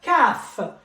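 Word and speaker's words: كاف: And I have fa, qa, and then I have the letter kaf. Kaf. Kaf, it's exactly as K in English.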